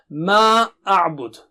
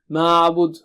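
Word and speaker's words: مَآ أَعْبُدُ: Okay, ma a'bud. This part is clear. We have done it before. A'bud should be clear. Okay, ma'abud. No, ma a'bud.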